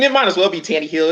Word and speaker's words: Tannehill: And it's because I don't believe in Tannehill.